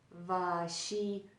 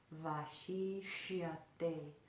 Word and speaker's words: Vaśiṣyate: So it connects and sounds like this. Va, va, va. Very, kind of in between a W and a V sound. Va, va. Vaśiṣyate, Vaśiṣyate.